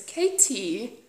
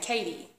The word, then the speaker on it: KT: KT's name properly, because KT mentioned how lots of Americans will say Katie, and I'm guilty, totally guilty. Katie. No, it's KT.